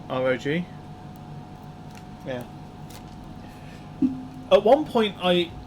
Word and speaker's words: ROG: Infinity says, hey, you say ROG the same way I do. Like, just pronouncing it rather than ROG.